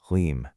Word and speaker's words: Hlim: That's pronounced Hlim.